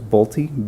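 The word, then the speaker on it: Bulti: best to pronounce the name and I can spell it for you as well first name is nagusi n-i-g-u-s-s-i-e last name is bolti b-u-l-t-i date of birth is 821 of 59.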